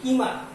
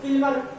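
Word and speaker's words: Kilmer: तो कवि कौन है, जॉय कीमर। सो किल्मर ना पढ़े, कीमर। I think it is better pronunciation, कीमर, है ना।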